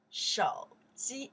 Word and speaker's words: 手机: Shou ji, one more time. Shou ji, one more time here. Shou ji, like sofa. Shou ji. This character we pronounce shou. Means the hands. This one is shou.